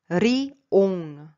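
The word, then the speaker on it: 리옹: Li, ce n'est pas li, et en coréen ça devient ri, ri. Parce que cette lettre au début, ça se prononce r. Si ce n'est pas suivi d'un autre L devant li, tout en bas.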